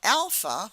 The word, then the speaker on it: alpha: trick here okay okay Alpha maybe you can think of somebody you know by the name of Al all right and um I'm trying to think Alp like Al is alpha alpha beta B beta